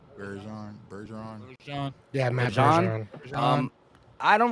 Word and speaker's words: Bergeron: Bergeron.